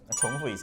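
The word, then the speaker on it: 重: 하지만 다시 , 반복 , 또는 겹치는 등 의 의미 로 사용 될 때 는 ' 총 ' 으로 읽어야 합니다 . 이것 은 발음 에 관한 것 입니다 .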